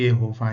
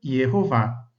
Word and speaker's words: Jehová: No texto hebraico nós encontramos essas vogais e o e a no tetragrama. E aí a pronúncia, a vocalização fica Jehová.